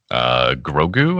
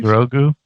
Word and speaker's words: Grogu: Grogu, I believe. Grogu.